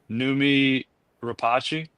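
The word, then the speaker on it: Noomi Rapace: The lead actress looks a lot like, and I'm gonna mispronounce her name, Numi Rapace.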